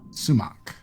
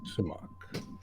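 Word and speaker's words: Sumak: And Prince, go ahead and pronounce it for me. I'm terrible with names. Sumac. Sumac.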